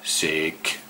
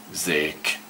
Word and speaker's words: szék: Ez a szék, szék. Get that right again, chair. Very difficult pronunciation.